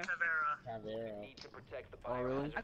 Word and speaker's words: Caveira: You do realize you pronounced her name correctly, right? Who? Caviera. Caviera.